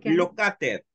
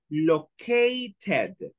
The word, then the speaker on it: located: Uno es locater. No es locater. Locater se escribe y se lee. No, pero no es locater. Es located. La A es A. Located. Okay. Y cuando se habla más rápido, locate. La T se vuelve R.